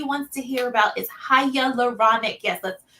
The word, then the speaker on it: hyaluronic: one that everybody wants to hear about is hyaluronic yes let's pronounce it together hiya leuronic acid and this is an amazing ingredient so